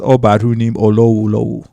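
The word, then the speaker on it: Ubadhunim Olowolowo: Yeah, so and the way it's pronounced is Obarunim Olowolowo.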